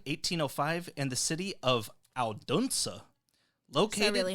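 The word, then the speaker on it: Odense: Hans Christian Anderson was born April 2nd, 1805 in the city of Alduna.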